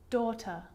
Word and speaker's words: daughter: a silent g and the combination gh can also be silent when it comes after a vowel sound though hi light daughter bright now the letter